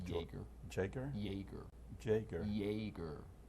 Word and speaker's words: Jaeger: Jaeger. Jaeger? Jaeger. Jaeger. Jaeger. Yay. Like a Y. Like Jaeger. Jaeger. Jaeger? Jaeger. Jaeger. Jaeger. Jaeger. Jaeger. I think you just me now. No, he's Jaeger.